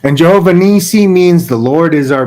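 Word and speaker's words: Jehovah-nissi: And Moses built an altar and called the name of it Jehovah Nasi. Jehovah Nisi.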